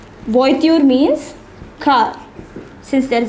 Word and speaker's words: voiture: was in this word is voitude see the pronunciation it is voiture voiture means kha since there is an s it